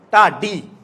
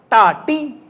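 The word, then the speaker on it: ਤਾਤੀ: How do you pronounce this? Ta-di. We never say ta-ti. Correct or not? If you follow the actual sound, tada kanna ta, tada biari ti, but we never say ta-ti. We always say ta-di.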